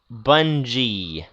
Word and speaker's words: Bungie: is that luffin says bungle is pronounced bunji bungie okay english pronunciation that